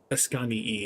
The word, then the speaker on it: Ascanii: Ascanii is probably more correct. In Latin, you pronounce both I's.